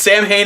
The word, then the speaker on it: Samhain: real name, but he got tired of people mispronouncing it, so he's just like, fuck it. It's Sam Hain if you want it to be, it's Samhain if you want it to be, whatever.